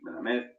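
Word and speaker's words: מלמד: Hasta el día de hoy nosotros lo pronunciamos aquí, melamed. Melamed significa enseñar.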